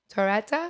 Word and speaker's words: Torretta: Torretta? Oh, she Torretta. butchered You it. said it perfect.